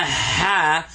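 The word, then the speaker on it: ح: minutes so this is the ha like when you blow on a glass or your glasses or clean a mirror or something like that so this is hot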